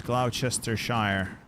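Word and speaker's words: Gloucestershire: south I know how that's supposed to be pronounced it's Glouchester Shire there's a river there so I need to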